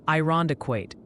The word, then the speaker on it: Irondequoit: Oh, and the pronunciation posse sends its regards. Multiple viewers are suggesting it's Cadiz, Ohio, and Irondequoit in New York.